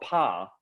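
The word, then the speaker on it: Pah: The H is not pronounced, but it's sounded.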